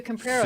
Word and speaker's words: Pollo Campero: It's Campero.